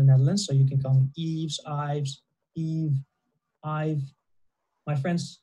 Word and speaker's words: Ives: hora this one name is quite hard to pronounce also the Netherlands so you can come Yves Yves Yves I've my friends also have trouble